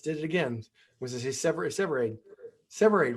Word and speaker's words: Severaid: And am I pronouncing your name right? It's Severade, but that's Okay, often, there it is. it's okay. I'm used to Severide.